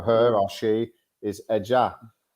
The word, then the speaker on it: ella: way she pronounces it and the way they pronounce it where she lives in Buenos Aires in Mhm. Argentina, they pronounce it like a sh sound.